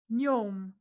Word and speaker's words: gnome: Gnome.